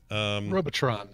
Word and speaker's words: Robotron: to know he says Robotron you only it's not it's neither its its Robotron robo with an a Robotron I think it's robotruck no bow Robotron yeah I mean I'm